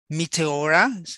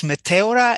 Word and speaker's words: Meteora: Matera means by the way and my family mispronounced it Meteora but in Greek it's Matera and it's like meteorite it means suspended in